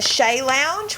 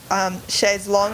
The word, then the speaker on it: chaise longue: And a chaise lounge, which I think is a chaise longue.